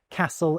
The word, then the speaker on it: castle: We stop pronouncing the T's in words like castle and hasten, and the L's in folk and palm disappear for a lot of people.